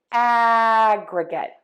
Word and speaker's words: aggregate: In this word, in the noun or the adjective, we are going to stress syllable 1. So let's put it all together. Aggregate, aggregate, aggregate, aggregate, aggregate.